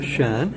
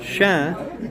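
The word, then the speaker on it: chien: The difference in pronunciation, Shen, you don't pronounce the N, that's dog. Shen, you pronounce the N, that means oak, like oak tree.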